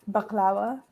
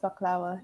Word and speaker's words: baklava: huge bake sale and I had real Greek baklava it's baklava it's pronounced baklava you don't use whatever it's supposed to be